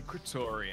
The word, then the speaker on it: Kretorian: Booty Kratorian. How do you spell Kratorian? K-R-Y-T. No, no. It's C-R-E-T. E-T. O-R-I-A-N. And it's no coincidence that it starts with crit, even though it's spelled weird because it's his organic, natural name.